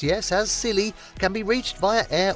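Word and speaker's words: Scilly: for couples looking for a romantic escape the silly Isles pronounced yes as silly can be reached via air or Sea and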